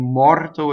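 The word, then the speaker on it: morto: Usually in Italian, it's on the penultimate syllable, and mɔrto is no exception, right? So mɔrto is the most common stress. The second to last syllable is stressed.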